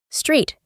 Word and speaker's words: street: Si nos encontramos una palabra con dos E seguidas, las pronunciamos como I, como por ejemplo, ver. Sí. Sí. Calle. Street.